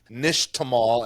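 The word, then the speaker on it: nixtamal: and a process called the the word is Nish Tamal and it's spelled Nix t m a l like like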